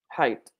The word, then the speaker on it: height: with the H high height okay so here we have some silent letters right so in English gh normally silent so high the G and the age are silent height remember guys I